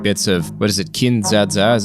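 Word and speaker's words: Kin-dza-dza!: was just rewatching bits of what is it kin zazza is how you say it cool and it's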